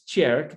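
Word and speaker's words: Tjerk: a big subject uh my dutch name is cherk but as you can see you spell it t jerk my parents weren't native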